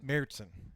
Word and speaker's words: Märzen: Märzen. I'm telling you, that is how you pronounce it.